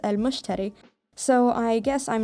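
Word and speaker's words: المشتري: how you say it it's the arabic name for the planet jupiter and it's pronounced as al-mushteri so i guess i'm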